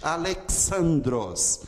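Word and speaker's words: Ἀλέξανδρος: O som desse som é como o som do X em nexo. Ele sempre vai ter esse som aqui, ó. Esse som é característico. Alexandros, por exemplo, é Alexandre. Passa para o português, vira X, como se fosse o som do CH. Mas em grego é Alexandros, Alexandre.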